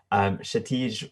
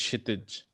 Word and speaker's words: Kshitij: Shatij. Can you go ahead and unmute yourself? Yeah, it's Kshitij, actually.